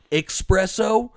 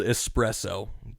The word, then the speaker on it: espresso: pianist expecially who especially expresso anyone who says expresso especially if you live in Washington like it's spelled espresso don't say expresso I don't care about